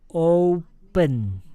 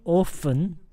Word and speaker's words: open: So when you say open, no F. No F. Just open. Not often.